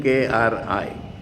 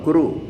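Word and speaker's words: कृ: Kri or Kru, both are incorrect. Both parties will think they are more correct than the other. It is Kr with a dot below. Pronunciation is without any swara, Kr. When A is added below, it becomes R.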